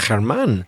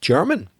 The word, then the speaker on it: Germán: And I would have said that this person is called Germán, but I've listened to the message and he pronounces it German.